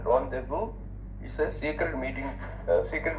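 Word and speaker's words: rendezvous: Rendevu. R E N D E Z B O U S. Find the pronunciation. Ramdeu is a secret meeting.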